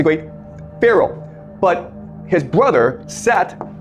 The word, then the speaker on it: Set: But his brother, Set, it's pronounced Seth, okay, but it's spelled Set.